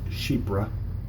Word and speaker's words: Chypre: like and that's what that's how you do pronounce that that is cheap bruh it is a very Mediterranean type smell very